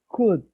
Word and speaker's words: could: It is again, Alejandra, could, Code code could, could. code Sounds like C-U-D.